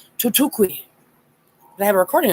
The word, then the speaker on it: Thoth: I have been spoken to by Thoth, which his name actually is most likely pronounced Tutukwi.